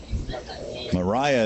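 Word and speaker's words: Mirah: Terry mhm Mariah Terry from midw HS sophomore Mariah is how you pronounce it but it's spelled m i r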